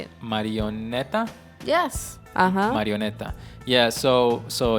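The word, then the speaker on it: marioneta: marionette yeah in spanish how you say it marionetta yes marionetta yeah so so here we go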